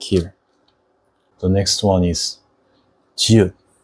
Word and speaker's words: 지읒: The next one is 지읒. It looks like this, and it sounds similar to English J sound.